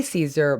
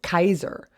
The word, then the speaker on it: Caesar: rome and we say caesar but actually his name then would have been pronounced kaiser and that's where the